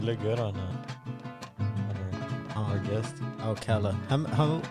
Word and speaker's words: Alcalá: Alcalá. How have people like pronounced your last name before? Alcalá. Alcalá. Alcalá. The accent on the second one.